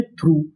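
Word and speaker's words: through: टी एच आर ओ यू जी एच। इस पूरी meaning को हम लोग पढ़ते हैं थ्रू। क्या पढ़ते हैं? थ्रू। थ्रू का मतलब होता है में से। तो पूरी मीनिंग थ्रू। यहां पर भी हमारा यूजी एच साइलेंट रहता है।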